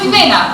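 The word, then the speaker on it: Ximena: Then throw in 3 Marias, 3 Annas, 3 Amandas, and throw in Jimena, which is by the way not spelled with an H, but with an X instead.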